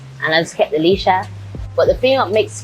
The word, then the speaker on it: Leshurr: Pronounce that name for me. It's Leshurr. Leshurr? Yeah.